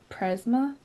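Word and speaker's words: πρίσμα: So it's pre Prisma? Prisma. Prisma. Yeah, Prisma. Prisma, which is for the English.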